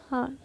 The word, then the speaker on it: hour: HOUR, एन हर।